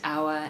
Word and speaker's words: hour: In a few other words borrowed from French, the H has remained silent, as in honor, honest, hour, and heir.